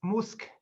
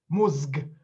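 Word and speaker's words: mózg: voice so uh musk uh the word for brain it's musk and not musg you know you'd have to strain yourself really hard to pronounce two uh voiced vowels in the end uh hence the simplified pronunciation uh another word for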